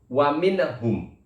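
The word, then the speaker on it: وَمِنْهُمْ: Nunnya dibaca jelas tanpa adanya dengung. Wa minhum, seperti itu.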